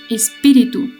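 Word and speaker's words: espírito: Ustedes dirán, uy, pero espíritu está escrito con O. En el portugués se escribe con O, pero se pronuncia U, espíritu.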